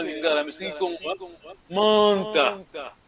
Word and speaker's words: Manta: Manta. Nous on prononce M-A-N-T.